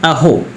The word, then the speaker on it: Ahoy: AHOY इसका उच्चारण है अहो।